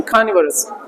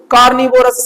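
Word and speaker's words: carnivorous: मैंने बोला था ना, जब इसको बोलो तो क को ऐसा नहीं बोलना, थोड़ा ह के साथ में, खानिवरस, वोरस नहीं, वरस।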